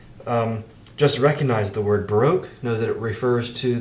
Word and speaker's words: Baroque: 1600s in Western culture that word Baroque or Barack the way the uh British pronounce it that word Baroque um